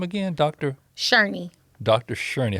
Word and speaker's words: Shurney: Sherney. How do you spell that in case someone wants to go looking for that book?